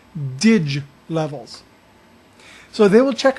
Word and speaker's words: dig: you look it looks like dig but it's pronounced dige levels so they will check a ditch level occasionally or daily depending upon what's happening